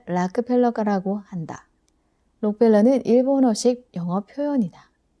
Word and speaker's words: Rockefeller: 그럼에도 불구하고 균형감을 가지기 위해서는 록펠러, 원래 발음은 락펠러가라고 한다.